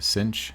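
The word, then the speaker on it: sinh: they were before and sometimes this is pronounced the Cinch of Z and cosh of Z and we may run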